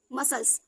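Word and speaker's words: muscles: Next मसल्स।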